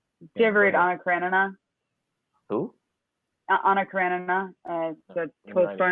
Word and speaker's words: Karenina: It's Karen Ina. Anna Karen Ina.